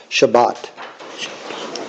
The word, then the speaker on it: Shabbat: then the bed okay and then this just this comes together as one syllable so bot Shabbat yep you can see how you have see how you have the two vowels yes that means you're gonna have uh two syllables even though you got three letters so so this is Sha but yeah but can you